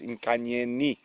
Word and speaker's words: Nkanyeni: So it is with the I. I have been incorrect. I do apologize. It is Nkanyeni.